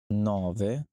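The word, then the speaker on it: nove: অত অত নভবে নভবে এখানে যদি একটু খেয়াল করেন নবের মধ্যে কিন্তু ওই বড়বি যে ভু এ সাউন্ড একটু ছেড়ে করতে হয়তো আপনি যখন প্রনান্সিয়েশন করবেন তখন একদম আর পরে যে ওইটার এর মতো না যে একদম নিচের দিকে যে ভি ভাতিনো ভেনিতসিয়া ওরকম করে সাউন্ড করবেন একটু বাতাসটা বের করে নভে নভবে দিয়েছি দিয়েছি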